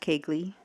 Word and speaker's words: Koegle: Last name is Koegle, pronounced Kegley.